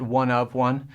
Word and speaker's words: One of One: It looks like chapter 1, verse 1, but we pronounce it One of One.